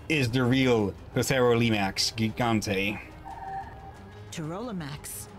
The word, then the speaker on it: Pterolimax: Pterolimax, it's one of the Dom's creatures. Pterolimax, I like the Therodon, it's inside the P is silent.